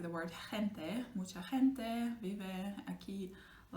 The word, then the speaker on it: gente: So in this case, you see it's not a r, yeah, it's a h, very soft h.